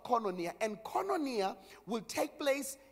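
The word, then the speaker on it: koinonia: One, there's a word called kononia or kononia, but it's right pronunciation is kononia.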